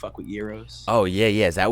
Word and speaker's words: gyro: yeah is that what is that how you say it though you know i've been calling it gyro my whole life bro i guess you i get i did it too but i guess we were doing it wrong we